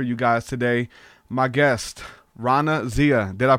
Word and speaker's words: Raana Zia: conversation plan for you guys today my guest Rana Zia did I pronounce it right yes welcome to the show